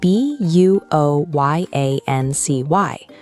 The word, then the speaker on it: buoyancy: It's spelled b u o y a n c y. We pronounce it buoyancy.